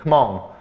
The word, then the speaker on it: 흐멍: 흐멍. 이건 거의 뭐 묵음 처리되는데, 묵음은 아니야 사실은. 살짝 발음하면 되는 건데, 흐멍.